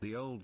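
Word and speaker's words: Ye Olde: so modern and I'm like okay that is pronounced the old shop that's not a why that's a thorn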